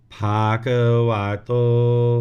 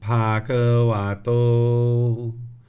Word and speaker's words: Bhagavato: Namo Tassa Bhagavato, Bhagavato, same thing, Bhagavato.